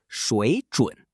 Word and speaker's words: 水准: Next, we have 水准, pronounced 水准.